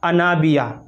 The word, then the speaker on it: انابیہ: انابیہ جو لفظ ہے اس کا جو صحیح تلفظ ہے وہ کچھ اس طرح